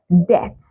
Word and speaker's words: debt: You can also find the silent letter B in words that have the B come right before the letter T. Words like debt, debtor, debtor, not debtor, not debt.